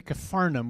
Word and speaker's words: Capernaum: So when he, that's Jesus, returned to Capernaum, which is how you say that word, I don't know why it's never written right, after some days it was reported that he was at home.